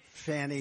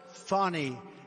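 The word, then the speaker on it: Fani: the horrible case of Fanny Willis it's it's actually pronounced fonny it's f a n i but you pronounce it fny a little French accent there fny but that's a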